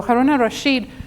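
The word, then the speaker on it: Harun al-Rashid: was haroon it's spelled al rashid but it's pronounced so haruna rasheed became the ruler of baghdad and ended up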